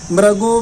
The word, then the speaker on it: मृगी: ऐसे ही भक्तामर के अंदर मृगो मृगेंद्रम बोलते हैं तो मृगो नहीं है, मृगी मृगेंद्रम।